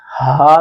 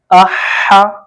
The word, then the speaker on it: ح: کے ساتھ پڑھیں تو اس میں بالکل کلیئر آواز ہو، ایسا نہ ہو کہ لفظ ہا میں تبدیل ہو جائے، یہ والا، ٹھیک ہے۔ ہا یعنی احا احا احا، اس کا یہ والا جو تلفظ ہے وہ درست ہونا چاہیے۔ جیسے ہم پڑھتے ہیں